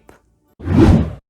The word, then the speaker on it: погреб: "A root cellar" is ПОГРЕБ /pogryep/ in Russian. Say it with me: ПОГРЕБ /pogryep/.